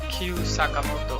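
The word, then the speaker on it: Kyu Sakamoto: And that was the first number 1 single by anyone of Asian descent since, how do you pronounce his name? Q Sakamoto.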